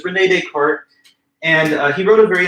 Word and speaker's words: Descartes: and stuff, but basically these would be soft S's, not like Descartes, but Descartes.